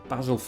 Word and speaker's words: basil: Next one is basil. Or basil, if you run a hotel in Torquay. Basil, it was a joke about Faulty Towers. But yes, basil is how I pronounce it.